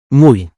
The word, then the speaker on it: muy: But when the letter Y is at the end of a word or standing alone, it's pronounced E.